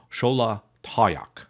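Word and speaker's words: Xolatoyac: card in the deck the pronunciation is fairly close but the last two vowels should be pronounced the same so it should actually be pronounced schola toak not toak schol toak is it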